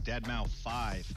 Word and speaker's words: deadmau5: your good friend joel professionally known as deadmau5 yes that is the correct way to pronounce it we're here to talk